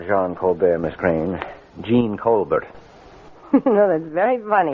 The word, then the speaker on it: Jean: look how do you spell the french name john j e a n and how do you pronounce that in english gene hey why you see what i mean it